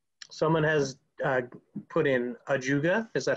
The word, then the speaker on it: ajuga: answers are oh someone has uh put in ajuga is that how you pronounce it yes yes okay good guess that